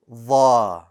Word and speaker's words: ظ: Want to pronounce it? Dha. Dha.